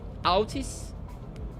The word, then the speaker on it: Outis: So it's pronounced outis just like me.